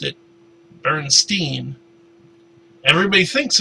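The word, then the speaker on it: Berenstain: I mean, I don't know which is the correct pronunciation, but the way I remember everybody pronouncing it is Bernstein. People all pronounce it wrong, pronounce it that way long enough.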